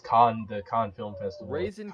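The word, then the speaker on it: Cannes: a con or can kanez can is i don't know how you pronounce that music con is like people say kane but i'm pretty sure it's khan the khan film festival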